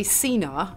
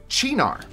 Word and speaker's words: Cynar: Well, there's 2 ways. Yeah. You probably say Cynar. I say Cynar. Oh, both wrong. Cynar.